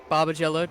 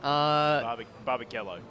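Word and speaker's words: Barbagallo: So definitely Barbagello, did I say it right? Barbagello. Barbagello, alright. Barbagello.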